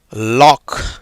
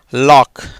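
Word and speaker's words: lock: ஆக அந்த சிக்கு இந்த இடத்துல உச்சரிப்பு கிடையாது.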